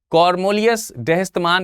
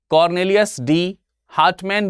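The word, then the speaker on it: Cornelis de Houtman: कॉर्नेलियस डेहस्तमान, या फिर इसे कॉर्नेलियस डी हार्टमैन भी बोला जाता है। कॉर्नेलियस डी हार्टमैन, दोनों एक ही व्यक्ति हैं, अलग अलग तरीके से इसका प्रोनाउंसिएशन है, क्योंकि अब आप समझ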